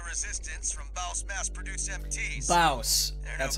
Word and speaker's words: Baus: Baus. That's how they pronounce it.